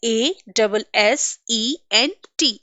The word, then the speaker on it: assent: See here, जो पहला एसेंट है नंबर वन, इसकी स्पेलिंग होती है ASSENT, एसेंट। एंड the second word we are having is ASCENT, बट दोनों ही वर्ड्स का प्रोनाउंसिएशन सिमिलर होता है, एसेंट।